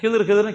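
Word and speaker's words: خضر: ஏறுகிறார்கள் மூசா நபியும் அந்த ஹதிர் அலைஹிஸ்ஸலாம் அவர்களும். ஹதிர் நான் சொல்லினேன், அது நீங்கள் ஹிதர்னு கேள்விப்பட்டிருப்பீங்க, ஹிதர் அப்படின்னு கேள்விப்பட்டிருப்பீங்க. சில பேர் அதை தான் கிதிர்னு கூட சொல்லுவாங்க. அவருடைய பெயரின் சரியான உச்சரிப்பு என்பது ஹதிர் அலைஹிஸ்ஸலாம். அவங்களும் மூசா நபியும் முதல்ல ஒரு கப்பலில் ஏறுறாங்க.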